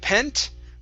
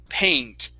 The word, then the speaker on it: paint: word paint okay so instead of pent with a short e it's going to be a long a sound paint paint brushes paint brushes